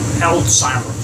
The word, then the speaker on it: Alzheimer: caregiver for 13 years i mainly worked on alzheimer's floors it's not pronounced it's not pronounced alzheimer's is pronounced alzheimer